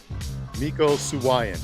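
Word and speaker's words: Mico Suayan: M suan thank you Real Deal Miko suan that's how you say it I always pull the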